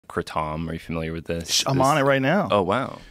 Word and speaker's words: kratom: You're the only one I've heard say Kratom. It's a Thai word. People in Thailand call it Kratom.